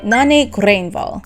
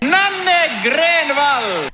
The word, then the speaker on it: Nanne Grönvall: The song, again, is a Swedish one called Håll by Nanne Grönvall. At least I think that's how you say her name. I'm basing it off of the way this guy says it. Nanne Grönvall!